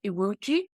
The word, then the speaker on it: Iwuji: And today we have the winner of this year's World Media Award, The Rising Stars, and who is Obinna Iwuji. Yes. Now, have I pronounced that correctly?